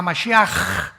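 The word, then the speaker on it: משיח: Todos, por ejemplo, dicen Yeshua a Mashiach. O sea, Jesús el Mesías. Se escribe Mashiach. Jesús el Mesías en el hebreo. Pero se pronuncia la CH.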